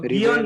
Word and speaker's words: guion: Okay, I think everyone has confusion about Guion and Bion. It's not Bion, it's Guion.